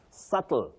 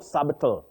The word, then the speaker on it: subtle: No mo then basel subtle not subal. Subtle. That b is silent.